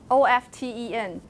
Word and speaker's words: often: about the free variations how do you say this oft en often have you ever hear people say often yes does that change